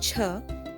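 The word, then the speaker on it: छ: in the word cheese the pronunciation of CHA is similar to that of chh in the word hitchhiker the pronunciation of Ja is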